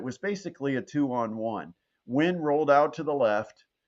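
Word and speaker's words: Nguyen: u yen um but it's pronounced quite simply win and that's basically what he did.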